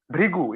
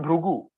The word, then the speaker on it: Bhrigu: Bhrigu. It's not Bhrugu. Have you heard it like Bhrigu or Bhrugu? Then it's inconsistent, na? But re is consistently used in every actually word. Bhrigu, Mrityu, Rishi, or Mridu, Mrida.